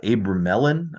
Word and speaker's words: Abramelin: But but him to to Abu uh Abramelon is how you pronounce it. Abramelon, I don't know.